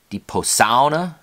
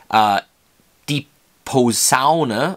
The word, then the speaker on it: Posaune: Trombone, die Posaune. It could be pronounced a couple different ways. Die Posaune or die Posaune. Either one is acceptable.